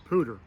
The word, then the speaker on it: pooter: how to make one an insect pooter sounds like the word peashooter so what you need